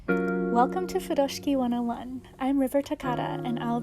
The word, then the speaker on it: furoshiki: Furoshiki is how it's commonly pronounced in English, which is perfectly fine. The pronunciation in Japanese is Furoshiki, so you'll hear me referring to it as that.